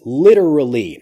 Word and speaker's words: literally: So this is literally. Now listen carefully to the pronunciation of this. Literally. The pronunciation, really, we could say literally, but the pronunciation becomes literally, literally, literally.